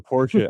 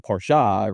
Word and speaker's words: Porsche: Well, if you actually take a look back that's the proper German pronunciation is Porsche. Porsche. Okay. Yeah. And it's supposed to not be like it's not Italian Porsha, right?